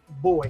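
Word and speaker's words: Bois 1920: I was about to say boys, that brand 1920, they pronounce that boys. Boys. Yeah. cuz it's it's the Italian brand. It's not pronounced French.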